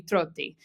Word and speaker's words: Trotti: But yeah, so if I were to pronounce this in Italian, it would be Trotti, or like kind of the similar way in Spanish because they're both like romantic languages, okay? But either way, it's not that.